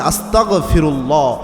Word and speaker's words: আস্তাগফিরুল্লাহ: উচ্চারণ করবেন না ক খ গ দিয়ে দিয়ে উচ্চারণ করবেন আস্তাগফিরুল্লাহ অর্থাৎ এভাবে যদি আপনি উচ্চারণ করতে পারেন অবশ্যই